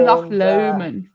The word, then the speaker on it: Loch Lomond: And um Loch Lomond Loch Lomond yeah. Yeah or Loch Lomond we're getting the proper pronunciation.